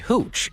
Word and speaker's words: hooch: It seemed the pair assumed it contained some perfectly safe-to-drink homemade hooch, and like a nice bottle of wine after a hard day's work, popped it open to share. Hooch rhymes with gooch, and I would never drink from a gooch, unless she were attractive.